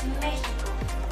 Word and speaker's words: México: La X en el español de México también puede sonar como una J, por ejemplo en la palabra México o bien en la palabra Jalapa. En ambas palabras la X suena como J.